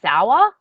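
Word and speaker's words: Sawa: I think it's technically pronounced Sour, but I always just say Sawyer.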